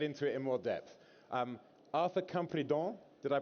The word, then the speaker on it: Arthur Campredon: Arthur Campredon, did I pronounce that correctly?